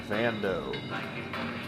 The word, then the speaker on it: Vando: Smart Buy uh so my name is pronounced Vando like Lando Calrissian from Star Wars good purchase thank you